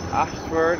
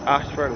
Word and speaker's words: Ayshford: We've been to the Ashford in St. Thomas. Ashford is spelled A-Y-S-H-F-O-R-D, and this is the Royal Harrison's Cave of Welchman Gully.